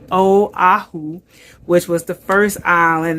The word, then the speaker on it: Oahu: A lot of people say Oahu, but our tour director also told us the correct way to say it is Oahu, which was the first island.